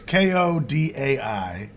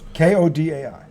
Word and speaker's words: Kodai: But it's Kodai is his first name. So Kodai.